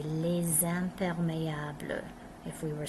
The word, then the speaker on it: les: These all start with a consonant, so all we hear here is les. We don't even hear the S.